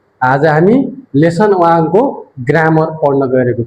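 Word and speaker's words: は: हिरागनाको हा शब्दलाई यदि पार्टिकलको रुपमा आउछ भने वा उच्चारण गरिन्छ जसको अर्थ के हुन्छ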